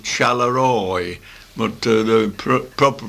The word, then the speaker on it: Charleroi: It's actually spelled Charleroi, but the proper pronunciation is Charleroi.